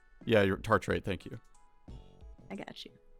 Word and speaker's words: tartrate: work today i'm gonna say if anyone can pronounce it you can't escape it voltage it's ethylenediamine tartarate ethylenediamine tartarite yeah your tartrate thank you i got you oh yeah and